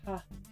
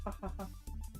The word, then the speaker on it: ja: j a because the the J is pronounced as ha but it's spelled like ja but but it's pronounced ha yeah yeah yeah yeah